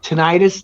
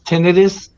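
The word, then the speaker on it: tinnitus: and now I have I've tentis tenus people pronounce it two different ways and it's ringing in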